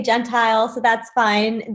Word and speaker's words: Gentile: I say Gentile, so that's fine. The Italian proper way is Gentile, but yes, it's Gentile.